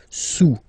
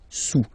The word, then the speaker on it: sous: Don't pronounce the final S, and then this OU combination of vowels is pronounced OU, okay? Sous, sous.